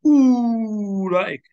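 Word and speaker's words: أولئك: Okay, then how to pronounce? We're taking this one today. Ulaika. So this is salam alis. La. This is hamza. The I. The kaf. The ka. Don't say ulaika.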